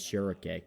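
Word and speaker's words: Schierke: pronounce her name as shurik that feels weird to say and I've always just kind of called her shrike like the bird because she has a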